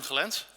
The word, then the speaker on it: Gelens: my name is Ben felens that's the Dutch pronunciation yep I'm a consultant